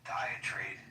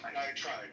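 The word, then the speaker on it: diatribe: Um and by the way, the more I think about Genesis diet trade um diet trap, how do I pronounce that? Diet tribe. Tribe. Diet tribe. Thank you.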